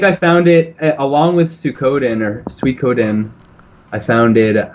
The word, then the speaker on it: Suikoden: Growing up, my friends and I pronounced it Suikoden because we didn't know anything about Japanese language, and I found out like 20 years later that makes absolutely no sense phonetically. So it's Suikoden, I'm quite sure, but I don't know how you'd anglicize that.